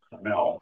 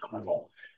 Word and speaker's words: Carmel: I have a friend who is now retired as the mayor of Carmel, Indiana, spelled like Carmel, California, but pronounced Carmel.